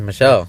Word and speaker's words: Michel: I think Magav I think his name is Michelle Pier. Okay, I know I know this guy. I watch his fight so many times. I know, but I think you pronounce his name Michelle. Okay, it's Michelle.